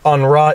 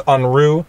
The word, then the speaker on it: Unruh: Prager u lawsuit where I was actually told that I was mispronouncing it and that it was not on Raw it was Unruh the california Unruh Civil